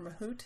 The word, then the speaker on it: Mahout: are HBase, Hive, Pig, and Mahout, or Mahout, it's pronounced. It depends on where you come from, I guess.